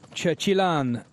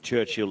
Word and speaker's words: Churchill: a lot of uh Churchill LS in Belgium so Churchill you don't have to change you say it because they say it exactly the same Churchill LAN there we